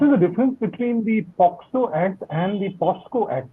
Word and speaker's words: POCSO: says no Poco is people mispronounce poxo and they call it posco by mistake but nothing else yeah